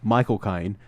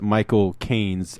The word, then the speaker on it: Michael Caine: If you got the cinematic versions, you'd have Michael Caine, and then you'd have Bane, and you'd have